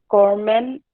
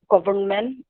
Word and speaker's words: government: Yes, it is not government or government, but it's government, government. Carrot, carrot.